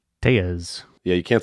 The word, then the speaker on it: Tellez: who goes by Rowdy Tellez. Rowdy Tellez. And it rolls, but I've just been told that it's pronounced Tejas my whole life, and that's Ryan Tejas.